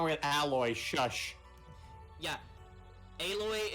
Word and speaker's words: Aloy: with alloy shush yeah aloy is fine she is fine like not every girl has to look like a model yeah okay that's how you pronounce her name well um by